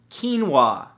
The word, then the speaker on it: quinoa: beautiful thing number two quinoa spelled ke en wuah no that's not how it's